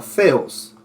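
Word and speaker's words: θεός: Ahí tenemos la palabra TH significa, bueno, no es que significa, TH se pronuncia como Z, así como Theos, que significa Dios, pero en este caso es Theotas.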